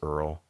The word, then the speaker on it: URL: Like Earl can sound like URL. Some people pronounce URL as Earl.